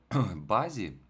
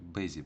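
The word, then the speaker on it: busy: До речі, хочеться тут прочитати базі, тому що я вам казав, що якщо у зажата, то вона читається як а наближено. Але слово зайнятий читається як бизі. Просто це виняток. Тому тут будемо читати бизі.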